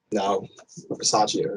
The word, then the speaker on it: Bisaccia: So Bisaccia is the actual.